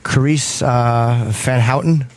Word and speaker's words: Carice van Houten: pronounced your name right is it Carice van Houten yeah I was right I looked it up and it said the V sounds like an F in the banner fan Houghton fun have fun